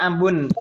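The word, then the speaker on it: أبٌ: Jadi itu dibacanya abun, gitu ya.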